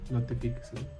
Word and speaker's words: notifíqueselo: Por ejemplo, dígamelo y notifíqueselo. Dígamelo con la primera signo en la I y notifíqueselo en la segunda I.